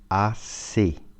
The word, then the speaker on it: assez: Переводится как assez. EZ, произношение это звук E.